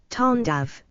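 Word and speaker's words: Tandava: cosmic dance that is known as tandi pronounced as tandav Lord Shiva is depicted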